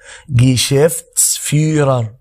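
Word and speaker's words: Geschäftsführer: احنا متفقين ان حرف الاتش في الالماني لما يبقى قبله متحرك وبعده حرف ساكن كده كده ما بيتقريش، وبنمد شويه الجزء الاولاني، يعني الكلمه دي لوحدها تبقى فيغر، يبقى الكلمه على بعضها مدير الاعمال تتنطق كده جيشيفتس فيرر.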